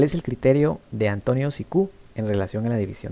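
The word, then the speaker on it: Cicu: ¿Cuál es el criterio de Antonio Sicú en relación a la división del derecho? Bueno, no sé si se pronuncia Sicú, porque creo que es italiano, entonces tal vez debería de pronunciarse Chicú.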